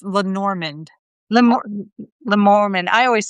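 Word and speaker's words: Lenormand: It it it's lenorand lemon. I always say lemon lor. It's pronounced Len Normand.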